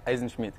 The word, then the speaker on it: Eisenschmidt: Marcus Eisenschmidt, is that how you pronounce it? Yeah, Eisenschmidt.